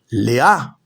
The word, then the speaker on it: Lea: Lea con acento en la A por su perversidad y maldad.